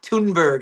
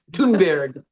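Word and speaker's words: Thunberg: Let's be Greta Tunberg. I guess I was pronouncing it wrong this whole time. Tunberg.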